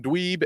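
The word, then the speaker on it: DDweeb: our YouTube channel that's dweeb with two D's at the start the first D is silent don't worry about it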